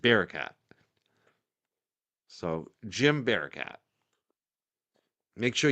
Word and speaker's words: Barakat: If you didn't get to see it, definitely do follow team Bar uh I always want to say Barcat. It's the way you pronounce it. Barcat.